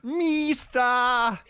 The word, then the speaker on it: Mista: you actually said it wrong. It's Mista. Mista. Sorry, go ahead. I didn't mean to annoy everyone in the audience, but that's how you say it.